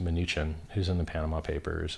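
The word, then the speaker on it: Mnuchin: through his minion munchkin whose name I believe is accurately pronounced maneechan who's in the Panama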